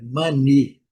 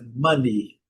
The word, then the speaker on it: money: força na letra e a pronúncia clássica, né, do inglês britânico e do americano, é mani. Letra E sem pronúncia. Letra E silenciosa. Silent letter. Então a pronúncia é money.